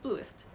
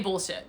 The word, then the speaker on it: Blluist: So how do you pronounce Blluist? It's just Blluist. Or some people say bullshit, but it's Blluist. Hey, Tor.